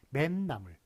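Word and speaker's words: 멧나물: 그런데 어떻게 발음됩니까? 맨나물. 이렇게 발음되죠. 그러니까 요게 매는 이제 산의 고유어예요. 산은 한자어죠. 산의 고유어인데 매는 그래서 요게 이제 매 플러스 나물이면 즉 산나물이라는 얘기인데 요게 지금 두 개가 합쳐져 가지고 발음이 되면 어떻게 발음이 되나요? 매나물로 발음되는 게 아니라 맨나물 이런 식으로 맨에 니은이 덧붙어요.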